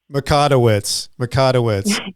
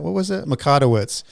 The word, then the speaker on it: Mikotowicz: Mikotowicz. And she told me right before I got on. Now I'm looking at it. I'm thinking, wait, what was that? Mikotowicz.